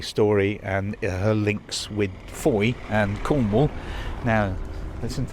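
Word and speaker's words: Fowey: So that's really quite an important facet of the Du Maurier story and her links with Foy and Cornwall. Now, listen to that word Foy, tell you more about that soon.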